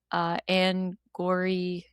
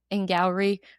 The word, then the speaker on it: Angourie: That, and then my other tiny little nitpick is once in a while with Anne Gowrie, is that how you say it properly? Angourie Rice.